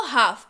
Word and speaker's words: half: अगला शब्द है हाफ, HALF पढ़ते हैं लेकिन इसको हाफ, L जो है वो साइलेंट है यहाँ पे, ठीक है, मतलब होता है आधा या आधी।